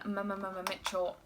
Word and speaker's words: Mmmmitchell: I know it's Mitchell, but it's so much more fun to say it like that. The Me, Myself and Mmmmitchell palette collab with Beauty Bay.